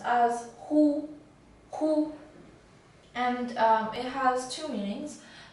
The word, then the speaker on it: 忽: this character is pronounced as whoo-hoo and it has two meanings the first one